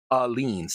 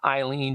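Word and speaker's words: Aleene's: going to use and I'm going to pronounce it correctly alen that's alen not Eileen not aen that is alen it's not on the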